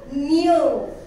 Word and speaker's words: knew: K-N-E-W, new. So most of the people will be pronouncing new. There is no word at all.